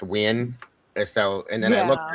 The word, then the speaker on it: Nguyen: Yeah, I was told it was pronounced Win.